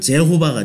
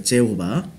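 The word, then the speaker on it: Jehovah: 영어 발음은 제호바가 돼요. 제호바.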